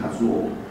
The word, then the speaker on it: 一生: 一生的音基本上一生的发音不是秀，是卡兹沃。